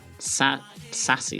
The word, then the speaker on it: Sass: Can I call it Sassy CSS? That just sounds weird as well. Sass is one syllable.